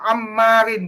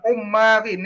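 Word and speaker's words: عمار: Ibnu Ammarin, bukan Ummarin ya. Nah.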